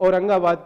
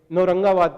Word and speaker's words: औरंगाबाद: औरंगाबाद है, इसका भी उच्चारण कुछ लोग औरंगाबाद की जगह नौरंगाबाद करते हैं और इसमें ना